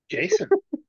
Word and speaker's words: JSON: Would you like to tell us how to pronounce J-S-O-N? Jason.